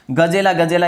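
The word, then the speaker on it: Gazella gazella: जो गजेला, गजेला दोस्तों, केवल गजेला नहीं, गजेला, गजेला, ये 2 बार यहाँ पे उच्चारण होता है, ठीक है।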